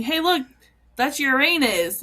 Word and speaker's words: Uranus: are they interchangeable pronunciations I guess but Uranus is the actual pronunciation yes that sounds like the the Gen Z No, I'm just kidding.